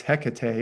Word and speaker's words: Hecate: turns her into in some accounts the goddess Hecate or Hecat the goddess of night uh in